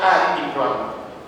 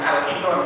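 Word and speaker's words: آل عمران: Yang dimaksud adalah suratul Baqarah dan surat Ali Imran. Ali Imran ya, bukan Al-Imran, saya salah bacanya. Ali Imran.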